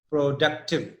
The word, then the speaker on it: productive: The word is productive. The stress is on du.